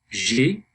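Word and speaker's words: j'aie: J'ai becomes j'ai, same pronunciation but different spelling.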